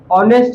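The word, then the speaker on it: honest: जैसे आप यहाँ फंस गए ऑनेस्ट बॉय, तो यहाँ देखिए पहले क्या है, एच है, एच। एच का मतलब ये हॉ नहीं है, एच साइलेंट होता है, इसलिए ये बन गया है ऑनेस्ट बॉय।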